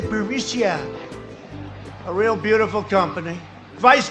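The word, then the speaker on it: Burisma: the burmese executives so this uh buremicia burmesia they say pronounce it borisia a real beautiful company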